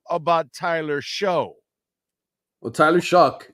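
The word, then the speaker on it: Shough: Tyler show well Tyler shock it's pronounced Shock by the way it's not show yes it's a tough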